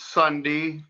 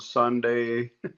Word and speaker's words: Sunde: It's Sunday. kind of with the e pronounced prominent, but I've been called Sunday all most of my life.